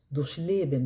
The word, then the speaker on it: durchleben: Donc ici, en l'occurrence, on met l'accent sur la racine du verbe, donc la base du verbe. Commençons par le verbe durchleben. Donc écoutez bien comment je prononce.